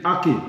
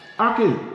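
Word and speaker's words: ackee: And it's spelled like this, A-C-K-E-E, aki.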